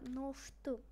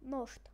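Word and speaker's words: нощ: Ночь у них будет это ношту. То есть у них щу. У них это произносится как шиты. Вот. То есть ношиты. Ношт.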